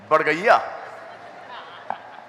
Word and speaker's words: बड़गैया: तुम अपना सरनेम कैसा प्रोनाउंस करते हो? हाँ, बड़गैया।